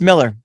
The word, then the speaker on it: Millar: Is it Miller or Millar? No, it's Miller. It is actually Miller.